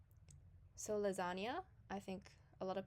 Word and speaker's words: lasagna: Spanish en sound so you kind of act like there's a y after the N so lasagna I think a lot